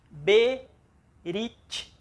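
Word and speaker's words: ברית: Como não tem, então é uma palavra de apenas uma sílaba. Berit.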